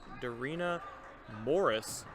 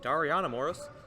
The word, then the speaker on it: Dariana Morris: It's number 13, Darina Morris. You know, lucky miss for the Tigers. Kinda let them go a little bit, but luckily it was offline. I think I mispronounced that. Dariana Morris.